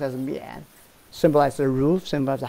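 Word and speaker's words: 宀: This is pronounced as mian.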